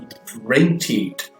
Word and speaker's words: differentiate: Então você tem different, com stress lá na primeira sílaba, mas quando você transforma isso daí num verbo, to differentiate, você vai para a terceira sílaba, né?